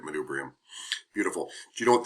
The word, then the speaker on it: manubrium: man man manubrium man manubrium yeah that's actually the right way to say it manubrium beautiful do you know